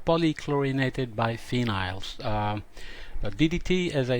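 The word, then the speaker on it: polychlorinated biphenyls: trichloroethane pcbs i said it wrong before call polychlorinated by phenyls ddt as i said was used as a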